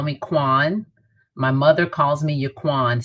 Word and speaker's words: Qwan: of them call me quan my mother calls me yaquan so i do pay better attention but i do respond mostly i respond to quan and things that rhyme with quan like john sean all those good things